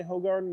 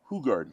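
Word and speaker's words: Hoegaarden: literally died yes and I'm saying the name wrong when I say ho Garden which is what I always say who Gard who who Gard okay hey it's their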